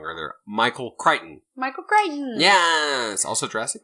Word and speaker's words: Crichton: I said his name wrong earlier. Michael Crichton.